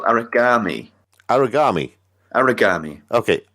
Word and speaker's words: Aragami: and today we are talking about an indie game called Aragami. Aragami. Aragami. Okay, Aragami spelt with an A, not with an O and an I. Not origami, where you're It's a folding little bit paper.